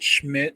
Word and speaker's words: Schmidt: Scott Schmidt rhymes with shit.